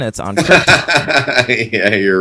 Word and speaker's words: Krypton: You are pronouncing the planet incorrectly. It's Krypton.